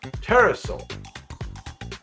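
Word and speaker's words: Pterosaur: type of petosa terrasaur you don't pronounce the P teraso it had a massive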